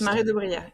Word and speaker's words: Marais de Brière: Yes, Marais de Brière, exactly. Good pronunciation.